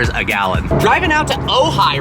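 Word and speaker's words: Ojai: are out here in ohigh and I'm going to let Eddie Drive the 600 LT it's not pronounced oji no I've been saying it wrong this whole time crap you've driven a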